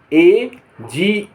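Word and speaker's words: age: उच्चारण ज होता है जी और ई साथ में लिखा हो तो उसका उच्चारण ज होता है जैसे ए जी ई एज एज माने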